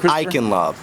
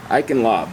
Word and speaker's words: Eichenlaub: your name Sir and your last name I lob iin lob yes okay and can you spell that for me e i c a h